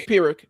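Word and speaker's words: Pyrrhic: It's it's pirick. It's a pirick victory.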